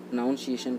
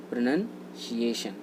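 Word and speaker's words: pronunciation: प्रोनाउंसिएशन को हम कहते हैं प्रोनंसिएशन। क्या कहते हैं? प्रोनंसिएशन। ये इसका राइट प्रोनंसिएशन होता है। किसका? प्रोनंसिएशन का ही राइट प्रोनंसिएशन होता है, ना कि प्रोनाउंसिएशन होता है। प्रोनाउंसिएशन गलत होता है।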